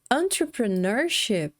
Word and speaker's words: entrepreneurship: Agora, para nossa surpresa, entrepreneurship, veja bem, entrepreneurship, a gente tem 5 sílabas.